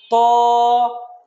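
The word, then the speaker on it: طاء: তারপরে হরফটা হলো ত। ত হরফটা একই জায়গা থেকে উচ্চারণ হবে, তা এবং দাল যে জায়গা থেকে উচ্চারণ হয়েছিল, ত হরফটা সেই জায়গা থেকে উচ্চারণ হবে।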